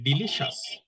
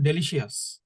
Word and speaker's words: delicious: তাহলে ডিলিটা বললেন, DLI ডিলি, CIOUS, CIOUS এটা উচ্চারণ হবে শ্বাস, তাহলে ডিলিশাস। ডেলিশিয়াস। আমরা বাংলাদেশে যখন ইংলিশ বলতাম তখন বলতাম ডেলিশিয়াস, এরকম বলতাম।